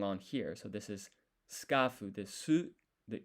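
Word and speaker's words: スカーフ: So first of all, it's skafu. So this is the katakana character for ka. But what we really want is it to be an extended sound, skafu. So this dash here extends the vowel sound. And then here, if we listen, skafu, there's no U sound here.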